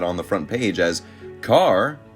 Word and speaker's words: Kerr: the front page as carr rhymes with star this is classic hollywood